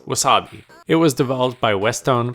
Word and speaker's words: wuz↑b?: street dancer that's right Wu Z upb question mark pronounced Wasabi it was developed by